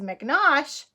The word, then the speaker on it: McNosh: on the front cover mrs. mcnaught rhymes with squash cuz they both end in Osh let's see if you